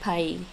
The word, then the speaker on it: pays: It is actually pronounced more like Pai.